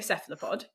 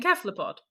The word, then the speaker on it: cephalopod: I picked up the word, I use a hard C because I was at a conference in Crete, a Cephalopod conference, and all the Greek guys were using a hard C because they're Greek and it's a Greek word.